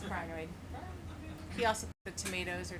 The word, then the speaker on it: crinoid: technician thinks that he they're pronounced kinoid but he's wrong it's choid he also the tomatoes